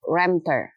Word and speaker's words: Wemter: Wemter.